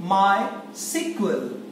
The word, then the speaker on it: MySQL: my sequel revision 2 I've written my and SQL but I am reading it my sequel the pronunciation of as